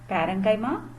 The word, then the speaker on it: parenchyma: only by repetition okay so repeat after me parenchyma colon kaima sclerenchyma okay so first learn the names properly pronounce it several times to make it familiar